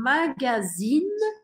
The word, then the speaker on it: magazine: Quando eu falo magazine e eu pronuncio esse N no final, isso significa uma revista.